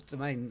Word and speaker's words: demesne: This guy here with his domain Smearmun, Demesne, it's Domain is how you pronounce it, has done an actually pretty good job.